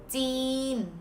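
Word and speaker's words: จีน: China in Thai language is Jeen, like jeans without S.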